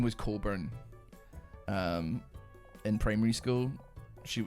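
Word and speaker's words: Cockburn: I did have uh well, her name was Coburn. um in primary school she in in primary like six I think her name was Cole burn but it's spelled C O C K Burn and um just want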